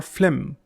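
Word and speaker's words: phlegm: Next is mucus और फ्लेम. इसमें जी silent है.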